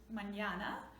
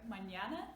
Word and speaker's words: mañana: Alright, mañana, enye. This is a little wave, actually it's called tilde, which is that accent you put there, but yeah, remember when it's there you pronounce it very soft, nya.